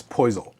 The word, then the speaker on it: Poisal: It's poison. P O I S A L just like it it's spelled.